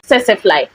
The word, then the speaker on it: Tsetse: insect is there and most of the words that have TSD literally like silent the T so because this insect is from there then I'd say it's supposed to be Tsetse fly and for the English